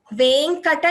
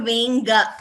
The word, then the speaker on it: वेङ्कट: And also Venkata Shailapate, not Venga. There is no Ga there, it is only Ka.